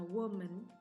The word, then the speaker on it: woman: Jadi, kalau tunggal bacanya woman meskipun pakai a, dan yang jamak bacanya women.